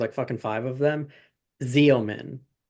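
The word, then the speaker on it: Xeomin: Okay, so it's spelled not how it sounds. It's spelled X E O M I N.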